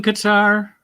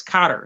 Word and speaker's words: Qatar: indiana eu is that is that rhythm qatar lead guitar it's actually i'm saying it wrong it's cotter it's like hey welcome back connor you know ooh hey